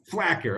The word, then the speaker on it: Flaquer: how to pronounce your last name correctly pronounce your last name so I say it right black tar black here okay there you know them cues and they